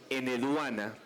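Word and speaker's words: Enheduanna: Sí, tiene una H intermedia y lo voy a decir en H. Eneduana, pues me lo mencionan acá, que fue digamos un dato que yo no sabía, ¿cierto?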